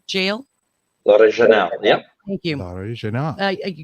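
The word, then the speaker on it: L'Orignal: And there was one episode that you were in and I hope I don't pronounce this wrong, but L'Original Jail. L'Original, yep.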